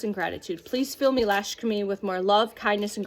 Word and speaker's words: Lakshmi: Call in Lashkami, Lakshmi, I apologize for mispronunciation.